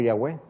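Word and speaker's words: Yahweh: aparece por primera vez el nombre de yagüe por lo que podemos pronunciar como ya web hasta antes era elohim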